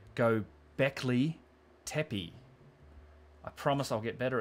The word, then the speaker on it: Göbekli Tepe: sing it back to me in the right pronunciation. Göbekli Tepe.